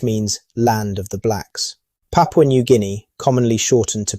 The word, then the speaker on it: Papua: The word Papua is a local term with origins in Malay, pronounced Papua, meaning frizzled hair.